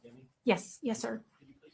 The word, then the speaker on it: Deming: Deming, is pronounced Deming?